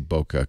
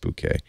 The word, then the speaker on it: bokeh: book that's because the bouquet I always say bokeh cuz I don't want you to think of a bouquet of roses but it's pronounced bouquet but both I'll say bouquet you know as